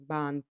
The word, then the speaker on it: Boun: So the next topic we're going to get into is Boun. I think that's how you pronounce his name. Boun. Is it not Bon? It's Bon Palm.